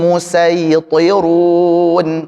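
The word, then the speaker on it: الْمُصَيْطِرُونَ: Pakai sad dulu. Sekarang pakai sin. Amhumul musaitirun. Am humul musitirun. Thinnya tebal kan ya? Runya juga tebal.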